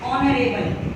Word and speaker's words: honorable: जैसे ऑनरेबल, इसमें भी एच जो है साइलेंट है, ओ जो है वोवल है।